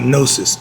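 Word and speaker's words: gnosis: get over it and that word is called nosis it's spelled g n o s i s Christians was called Gnostic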